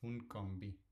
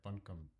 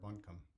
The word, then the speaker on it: Buncombe: and I and I have a lot of temptation to call it boon combi because that's how I would pronounce that read it in Spanish so sorry if I'm not pronouncing it correctly I think it's like Buncombe County okay so let's query